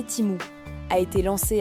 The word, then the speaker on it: Temu: Temu prononcé Timou a été lancé à l'automne 2022 aux États-Unis par le groupe PIN Duo Duo, un géant de l'e-commerce en Chine.